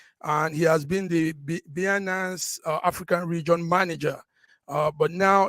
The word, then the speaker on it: Binance: Binanza, I don't know how you pronounce that word. Update, yes, Binance.